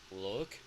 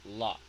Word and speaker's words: lock: careful with this one this is not look because that's another verb this is lock lock look look look look look at me okay okay yes this one is lock and now and I